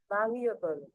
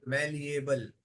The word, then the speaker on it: malleable: अब ये हिंदी में लिखा है, अब सुनो इसका प्रोनाउंसिएशन. malleable, बोलो. Malleable. malleable, malleable. malleable, मैलिएबल. ठीक है, ई की मात्रा.